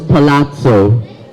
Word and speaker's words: palazzo: let's move on to our fourth word it's pronounced as Palazzo yes go ahead from the Italian origin is